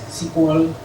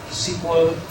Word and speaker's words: SQL: model together with the SQL language. Well, I pronounce SQL instead of SQL because it was the first name for this language.